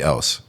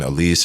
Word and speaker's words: Ellse: and started calling me Ellse. And then other people just didn't even know how to say LC. They were saying Elise and like Elke, like a bunch of weird stuff.